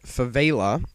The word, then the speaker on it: Favela: Hey guys, Xdraws here, and I'm going to be playing a free-for-all on Favela. I found out that that is actually the correct pronunciation, not Favela, as I was calling it before.